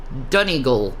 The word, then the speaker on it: Donegal: The part of Ireland you're from is pronounced Donegal.